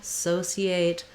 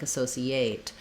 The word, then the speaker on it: associate: this eight syllable but watch out that often non-native speakers will hear a word ending in eight and they may want to stress it there like associate but we don't want that we want to keep